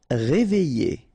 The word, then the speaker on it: réveillé: Réveillé. Okay, I-double-L-Y. Réveillé. Horrible. Okay, first letter is H, but then we don't pronounce H, so you don't pronounce it.